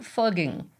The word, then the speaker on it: Fugging: After years of putting up with these shenanigans, on January 1st, 2021, the town council voted to change the name officially to fugging, which better reflects the actual pronunciation.